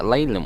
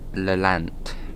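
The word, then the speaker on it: Lelant: la lance and yes i kept calling it layla when the root first come up but now is uh it is supposed to be la land that's the local way of saying it right this is lance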